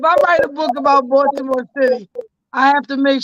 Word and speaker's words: Baltimore: Well, I want to tell you, if you go book on Baltimore, you gotta learn how to pronounce Baltimore. It's Baltimore.